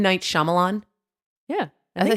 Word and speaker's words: Shyamalan: the I'm gonna say this wrong M Night shalam Milan videos how do you say his last name M Night Shyamalan yeah as I said I can watch the